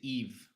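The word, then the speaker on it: Yves: make our lives easier his name pronunciation is Eve Eve his first name never would have guessed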